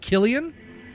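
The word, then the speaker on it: Cillian: See insilians pronounced like a K. Oh, is it Killian? It's like Killian's the beer. Oh, I thought it was Silian Murphy. Oh, Killian Murphy.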